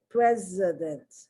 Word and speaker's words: president: Precedent, president. I have to be very conscious of the way I'm pronouncing the C, not the C so much, but the S when it's pronounced like a Z.